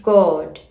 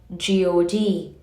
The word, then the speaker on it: God: It is a composite of the sounds A, U, and M, just as G, O, and D taken together is pronounced God, not God.